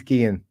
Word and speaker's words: Guillaume: Is it Guillaume, like Robert Guillaume? I think it's Guillaume, but yeah. I mean, I don't think she cares how it's pronounced. But it's Guillaume, Kim Guillaume.